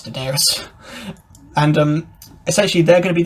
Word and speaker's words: Daenerys: It took me years to learn how to pronounce Daenerys.